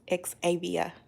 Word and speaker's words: Xavia: up hey miss carolyn my name is pronounced ex-avia i'm trying to use